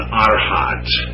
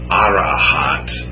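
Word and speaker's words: arhat: are called an Arad it's a r h a t but there's ambiguity these languages are so different I've also seen it transliterated as arant another syllable or arant with an N there but I just stick with a short one I guess I probably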